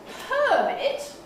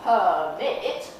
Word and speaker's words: permit: bit too to help so permit with a long er in the stress syllable when the stress hops why how about that long on the first syllable we don't need it we don't need permit but permit we get the first one over and done so we've got a